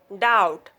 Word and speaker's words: doubt: B is not pronounced after T usually. When B comes before T, then B will be silent. This word, that, doubt, doubtful.